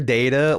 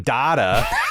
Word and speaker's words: Data: to my favorite character data like at least this one likes Spock you know what is he sounded like Fran Drescher I can't I can't man she kept she pronounced data's name Dada like is that is that